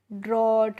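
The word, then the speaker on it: drought: तो डी आर ओ यू जी एच टी को हम पढ़ते हैं फ्रेंड्स ड्रॉट।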